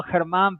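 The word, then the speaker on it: Germán: You pronounce my name really well, Herman, but some people might see that it's spelled German. I'm from Spain originally, and in Spanish, the G is a G. So you got to clear your throat a little bit to pronounce my name.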